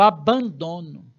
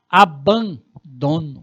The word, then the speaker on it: abandono: O abandono. Olha que pronúncia bonita dessa palavra, né? Abandono.